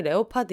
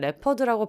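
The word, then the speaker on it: leopard: 예를 들면 표본무늬 레오파드 있잖아요. 영국에선 레퍼드라고 발음하더라고요.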